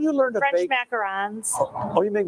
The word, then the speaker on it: macarons: macarons. Oh, you make macaroons? I Or do ons or- macarons. I'm sorry. Uns are coconut. Oh, sorry. Ons are French.